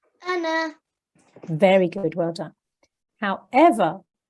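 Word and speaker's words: أنا: this noon oh sorry this blank alif is not pronounced in continuous reading so if you are reading continuously and you see this I live and this noon with blank Olive afterwards you will recite it Anna Anna very good well done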